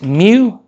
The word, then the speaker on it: mu: That one is mu because it's not a Pokémon. Uh it's because it's just pronounced m.